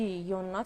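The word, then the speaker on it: Jonna: اسم رو توی سوئدی یونا تلفظ می‌کنن و این اسم رو هم یوناس حالا یا یوناس نمی‌دونم ولی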